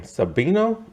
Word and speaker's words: Sabino: sabino this is how you say her name sabino um she is also in this i was